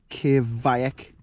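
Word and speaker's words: kveik: have this one now apparently you pronounce that k vik k vik kvac is the yeast they use i can't wait to try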